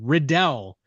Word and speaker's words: Riddell: We say his name Riddell.